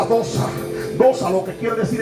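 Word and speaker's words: δόξα: Por eso en este contexto, cuando hablamos de la gloria de Dios, hablamos de una palabra que se pronuncia dosa.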